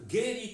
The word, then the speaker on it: Geri: Geri czy Keri, w zależności od formy, w jakiej chcemy to wymawiać, bo obie formy są dobre, znaczy kopnięcie.